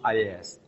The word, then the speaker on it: IaaS: There are three main cloud segments: software as a service, pronounced SaaS, platform as a service, pronounced PaaS, and infrastructure as a service, pronounced IaaS.